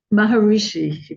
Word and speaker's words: Maharishi: uh I I don't want to say his name wrong maharashi Maharishi Mah Mah Maharishi so Rishi means SE Maha